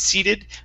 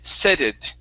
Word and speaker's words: seated: seat and seating and seated most of the time they were good you had a couple of times though you had said SED okay using a say okay so it's e c seated seated there you go